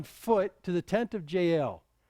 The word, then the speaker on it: Jael: Sisera fled away on foot to the tent of Jael, or if you want to say it right, Yale. Okay, it sounds like Yale University.